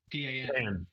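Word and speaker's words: pain: P-A-N. Pan. P-A-I-N, but it's pronounced pan.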